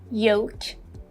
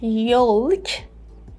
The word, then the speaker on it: yolk: version we would say yoke yoke L yoke in the American pronunciation we would say yoke yoke o and as you just noticed L is silent here I recorded this short